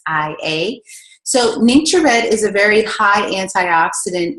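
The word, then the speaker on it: NingXia Red: and this is actually some people pronounce it ninja red i pronounced in nature ni ng x I a so nature red is a very high antioxidant and nutrient-rich drink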